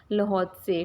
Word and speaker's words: Lhotse: ये LHOTSE इसका जो प्रोनाउंसिएशन आप प्लीज़ अच्छे से कीजिएगा, इसका प्रोनाउंसिएशन होगा लहौत्से, ठीक है।